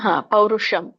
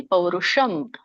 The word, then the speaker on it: ಪೌರುಷಂ: ಯತಾಮಸ ಮುಚ್ಚತೆ ಹರೇ ಕೃಷ್ಣ ಪೌರುಷಂ ಷ ದಲ್ಲಿ ಮೂರ್ಧನಿಷ ಬರುತ್ತೆ ಮಾತಾಜಿ ಪೌರುಷಂ ಶ ಅಲ್ಲ ಸ ಷ ಮತ್ತೆ ಷ